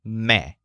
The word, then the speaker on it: me: The word me means me. But remember to pronounce it with Joel's voice. It sounds like me.